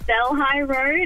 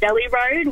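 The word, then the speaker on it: Delhi Road: Hill yeah thanks very Casey give us a pronunciation of a a well-known Sydney Road yes we say Del high road and until my Indian boyfriend told us all that it's pronounced Deli road we had no clue Deli Road well you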